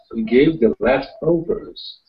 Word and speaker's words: leftovers: We're not putting a lot of emphasis on the overs. You don't really, you kind of soften all the sounds, leftovers. It's almost like your voice is drifting away.